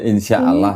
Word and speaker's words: insyaallah: Melainkan patutlah kamu berkata insyaallah kita insyaallah tulisannya di situ enggak ada tasdidnya. Jadi bacanya insyaallah gitu.